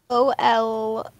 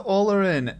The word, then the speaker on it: Olorin: Spell it out for me. O-L-O-R-I-N.